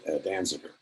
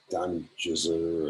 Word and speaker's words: Danziger: decide what things meant they had trouble pronouncing my last name danziger and so they it came out done jizzer or something like that and they finally decided